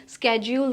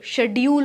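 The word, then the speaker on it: schedule: को ना जो भी रूटीन होगा, जो भी स्केड्यूल होगा, जो शेड्यूल होगा, दोनों प्रोनाउंसिएशन सही हैं, एक ब्रिटिश है और एक अमेरिकन है।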